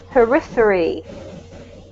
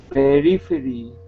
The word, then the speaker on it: periphery: This is periphery. Periphery. Yep, so the emphasis is actually on this syllable here, periphery.